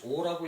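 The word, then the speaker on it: 惡: 하고 싫어할 때는 싫어하고 미워할 때는 오라고 읽죠, 그죠? 그래서 여오악취 근데 악악취 그래도 괜찮아요.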